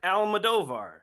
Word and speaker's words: Almodovar: talk ADHD with Alex high and today almadovar right yep okay we were talking about how to pronounce his name before we hit record so